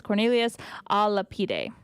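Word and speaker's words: Cornelius a Lapide: By the way, Adrian did send me the pronunciation of the gentleman. It's Cornelius Alapide.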